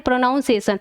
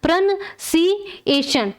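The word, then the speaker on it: pronunciation: इसका सही उच्चारण क्या हो जाएगा, प्रोनंसिएशन। ठीक है, प्रोनंसिएशन, अगर हिंदी में लिखे प्रोनंसिएशन, ये सही पढ़ने का तरीका है, प्रोनाउंसिएशन नहीं है, ये उच्चारण हमारा गलत है।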